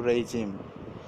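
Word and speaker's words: regime: এই যে অ্যালাই মানে হচ্ছে মিত্র, তো আর শাসকদের বলতে বোঝায় যে রেজিম, এটা এটির উচ্চারণ কিন্তু রেজিম, রেজিম ally, রেজিম ally, তো শাসকদের মিত্র।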